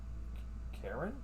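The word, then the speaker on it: Charon: medallion bearing the letters Karen? It's spelled like the ferryman.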